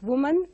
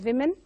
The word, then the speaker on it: women: is the pronunciation of the word women. So women is pronounced as woman by many. So we have to rectify this and pronounce it as women.